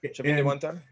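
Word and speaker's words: Chavín de Huántar: So we talked about Chavin de Huantar. Is that how you pronounce it? Okay. Yep. Chavin de Huantar.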